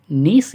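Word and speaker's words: gneiss: है ग्रेनाइट दूसरी है ग नीस या गनाइज साइलेंट रहता है नीस चट्टान और ग्रीनस्टोन यह तीन प्रकार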